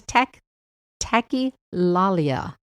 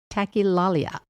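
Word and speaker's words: tachylalia: It is tech tackalia. Now, I did look that up and I did spell it correctly. T A C H Y L A L I A tilalia and it means excessive rapid speech.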